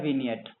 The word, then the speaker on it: विनियट: अब लास्ट जो चीज है हमारी, वो है विनियट, ठीक है। अब पता नहीं जी को शायद पढ़ते नहीं है इसमें, क्या दिक्कत होती होगी नहीं पढ़ते होगे, साइलेंट होता है, ठीक है।